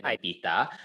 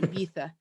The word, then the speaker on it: Ibiza: I have to say with the España accent, Ibiza.